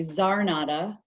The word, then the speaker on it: Czarnota: My name is Zarnata. Yeah, sorry for butchering your name. The C is silent.